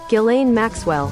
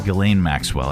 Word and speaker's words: Ghislaine: So how do you pronounce her name? Ghislaine Maxwell. Ghislaine Maxwell.